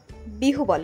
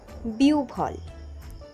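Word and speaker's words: বিহ্বল: তার জিউভা পুড়ে গেছে অনেকেই বিহু বল উচ্চারণ করে থাকেন উচ্চারণ হবে বিউভল দুর্ঘটনার খবর শুনে সে কিছুক্ষণ বিউফল হয়ে বসেছিল।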